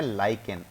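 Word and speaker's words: lichen: से और उस ऑर्गेनिस्ट म का नाम है लाइकेन एल आई सी एच ई एन उसकी स्पेलिंग है अब सर य लाइकेन होता क्या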